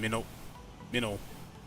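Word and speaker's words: Minot: Still got a ways to go, but right now we are, let's see, in Minnow. Is it Minnow pronounced? Yeah, I'm in Minnow right now. M-I-N-O-T, that's how it's pronounced.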